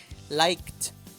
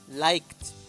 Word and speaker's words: liked: Como el sonido es de K, la pronunciación de la ed va a ser como T. Liked. Liked.